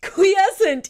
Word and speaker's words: Quiescent: Quiescent is the way that it's pronounced.